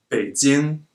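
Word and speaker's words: 北京: dumplings what about this one reading this as fades in means the Chinese capital Beijing but pronounced fades in it means background now you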